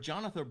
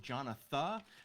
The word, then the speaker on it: Jonatha: just a great singer-songwriter her first name is spelled jonatha like Jonathan but without the end jonatha Brooke also please check